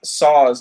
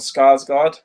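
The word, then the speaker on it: Sarsgaard: of them though no because he's um SARS not Scar's God okay that's an easy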